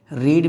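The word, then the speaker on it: read: रीड means होता है पढ़ना, लेकिन इसका सेकेंड फॉर्म स्पेलिंग सेम होती है बट प्रोनाउंसिएशन डिफरेंट होता है। रीड, रेड, रेड, इसको रेड लिखिएगा और इसको भी आप रेड पढ़ेंगे।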